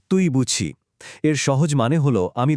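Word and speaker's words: 对不起: যার উচ্চারণ তুই বুঝি। এর সহজ মানে হলো আমি দুঃখিত। উচ্চারণটা আরেকবার মন দিয়ে শুনুন। তুই বুঝি।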